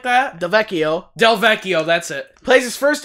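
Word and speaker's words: Delvecchio: know his last name, I forgot how to pronounce it. 1951. Alex it's Del Chivo, something like that? Del Vecchio, that's it.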